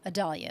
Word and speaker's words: Idalia: And this is Idalia is how they're pronouncing.